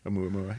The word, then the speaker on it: Oumuamua: I pronounce it Omuamua. Omuamua? Oumuamua, yeah.